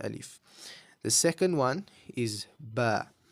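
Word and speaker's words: ب: So this is ba. Very similar to the sound that a sheep makes.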